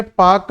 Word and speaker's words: Palk: तो पाक की एक बार स्पेलिंग जरूर बेटा पढ़ लेना कि इसकी स्पेलिंग PALK है। तो ये पालक वाला पाक है।